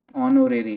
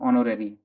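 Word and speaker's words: honorary: अच्छा यहाँ पे देख लो, this H is silent over here, H क्या है यहाँ पे साइलेंट है, याद रखना ये, बोलेंगे क्या इसको ऑनो, ऑनोरेरी। ठीक है, इसको ऐसे पढ़ेंगे ऑनोरेरी, वो से स्टार्ट करेंगे पढ़ना इसको।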